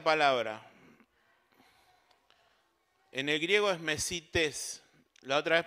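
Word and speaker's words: μεσίτης: En el griego es mesites. La otra vez pronuncié mal una palabra, ¿está bien? Mauri, mesites.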